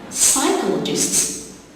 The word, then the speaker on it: psychologist: age after the our psychologists you've got to send letters P in the beginning and age after the scene psychologist or during summer